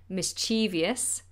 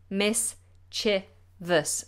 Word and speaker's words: mischievous: correct my cell phone because I always say mischievious but it's mischievous miss cheevus three syllables mischievous mischievous okay familiar